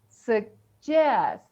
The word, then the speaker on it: suggest: takes the stress so we say this way S Suggest suggest right so here it is